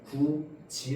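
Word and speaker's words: 굳이: 규칙에 따르면 맞지 그런데 그러면 구이라고 발음해야 되는데 우리는 얘를 구이라고 발음 하해 어떻게 발음하면 돼요 구지 라고 발음합니다 맞죠 자 그래서이 디귿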